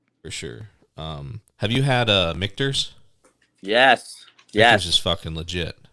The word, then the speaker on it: Michter's: God, I didn't even know that's how you pronounce it. Actually, someone told me he said it's Michter's, and so like anytime I talk to somebody